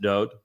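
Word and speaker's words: דוד: His name is Dod. It is not actually David. It's Daleth Wah Daleth would be pronounced Dod.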